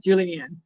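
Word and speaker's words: julienne: julan and yes that is the answer is Julianne it's spelled j l i e e I can't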